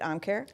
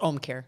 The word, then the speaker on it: Ōmcare: Amare is like he do you pronounce it Amare it's Omare see do you see it's got a little line of the O I should actually yeah read it properly yeah Lisa Lavin Care Home Care Home Care it rhymes with Home Care get it okay oh